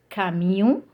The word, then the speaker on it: camion: So here, C followed by A, O and U, and we read it like K. Okay, we pronounce it as K. So, camion, curl, cube.